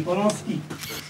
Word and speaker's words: Polański: Chciałbym bardzo mile powitać obecnych wśród nas Andrzeja Wajdę, którego my we Francji wymawiamy Ważda, oraz pana Romana Polańskiego, o którym mówimy Polonski.